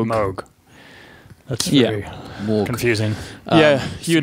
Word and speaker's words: Moog: Yeah, but spelled Moog, but said pronounced Moog.